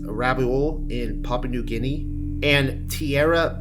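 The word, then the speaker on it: Rabaul: volcano though the volcano I believe it's pronounced rabol in Papu guini and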